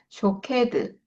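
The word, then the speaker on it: שֹׁקֵד: 이게 쇼케드. 그러니까 앞에 살고 나무는 샤케드. 지켜보고 있다는 쇼케드. 뭔가 비슷하죠. 이게이 발음이.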